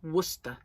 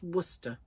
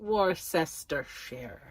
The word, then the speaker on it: Worcestershire: You know, Worcestershire sauce is just Worcester. It's Worcester. No, not Worcestershire.